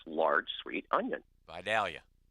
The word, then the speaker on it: Vidalia: its large sweet onion Vidalia Vidalia and you pronounced that correctly too my friend thank you movies movies he was gonna say Vitalia but I stopped is there